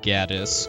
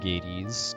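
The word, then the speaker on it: Gades: anything else because if you're going purely by Japanese I mean Gaddis would be a better be a more accurate pronunciation just because of Hades existing and uh English um most people most people I know that are familiar with this game pronounce it Gates including myself hey freaky oh yeah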